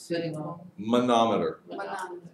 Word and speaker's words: manometer: pressure cuff yes big moment Oliver speak Momo manometer manometer that's gonna be on the final exam you have to pronounce it correctly Wow while ordering a bunch